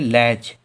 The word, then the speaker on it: latch: LATCH, शब्द के अंत में TCH आया तो T साइलेंट है। इसे क्या पढ़ेंगे? लैच, लैच, लैच।